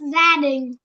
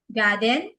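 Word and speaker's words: gia đình: It's Zading. Zading. Garden? Garden? Zading. Zading. Yeah. Not garden.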